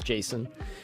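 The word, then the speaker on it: JSON: argue if it's pronounced jason or jason yeah which uh douglas crockford the the gentleman that coined that term says jason jason uh jason like a person i would say jason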